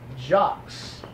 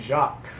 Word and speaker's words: Jacques: To my right, William Robert's left, we've got Jacques. No. Is that not pronounced correctly? No. I'm sorry, we discussed the pronunciations of your name. The S is not heard, it's silent. Yes, silent. Jacques.